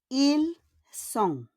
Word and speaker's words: Ils sont: And the last we have, ils sont. On ne prononce pas le S et le T à la fin.